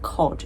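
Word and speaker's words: KOD: in a restaurant called I think you pronounce it cod. It's Danish K O D.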